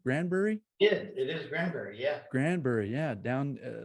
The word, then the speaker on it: Granbury: that down wrong so I had did I pronounce that right wrong Granbury yeah it is Granbury yeah Granbury yeah down a little suburb of